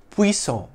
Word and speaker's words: puissant: In French, it's pronounced puissant, with a silent T, though its feminine form, spelt with an E at the end, is pronounced with a soft T sound at the end, puissante. In English, it's pronounced puissante or puissant.